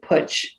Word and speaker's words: Putch: up my grandmother her name was grace she pronounced it putch that's how they pronounced it so she used